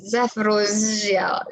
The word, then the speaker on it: Zaporozhye: It has multiple ZH inside it. So that power station, that nuclear power station is the one that I'm talking about. Thank you. Whatever that power station is, Zaporozhye, ऐसे जैसे भी pronounce